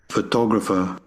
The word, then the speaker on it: photographer: in reality, you will hear either this photo, or photog, this. So it will be photograph, photograph, and photographer, photographer.